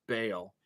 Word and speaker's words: Baal: That's how it's pronounced, Baal.